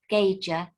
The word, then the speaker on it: Gaiger: In fact, Gaiger, that's the pronunciation of my surname.